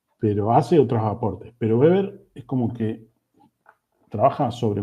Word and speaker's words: Weber: Se pronuncia Weber, ¿sí? Aunque si vamos a la fonética más fina sería una B corta, una B larga, pero sí, es Weber, ¿sí?